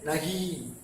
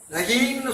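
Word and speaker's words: नहीं: இதை எப்படி உச்சரிக்கிறது? நகி. நகின்னு சொல்லக்கூடாதுங்க. நகி.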